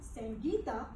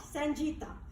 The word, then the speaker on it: Sangeeta: be my good friend, call me Sangeeta, not Sanjita. And that is G is in God, not G is in George.